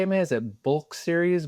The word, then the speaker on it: Black Series: Is it bulk series, black series? How do you pronounce your I mean, account?